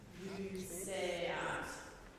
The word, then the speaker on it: luceat: Luceat, that's a sibilant S as that C sound. Luceat.